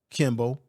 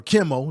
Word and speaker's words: Kimmel: entertainer like a Jimmy Kimble or Kimmel, let me say his name right, or a Jimmy Fowler